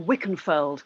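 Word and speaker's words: Wilkenfeld: And then next you've chosen Tal got to pronounce the name properly, Wickenfield? Yeah, Tal Wickenfeld. Now, Tal Wickenfeld. Wickenfeld, she has played with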